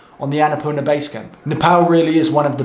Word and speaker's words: Nepal: If anyone's wondering, by the way, why I'm saying Nepal, it's because after 3 months of saying Nepal, as I was saying previously in my English accent, people kept telling me, Will, you're saying it wrong, it's Nepal.